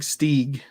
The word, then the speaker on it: Steeg: Big Steeg. Steeg? Yeah, it's like an E-E.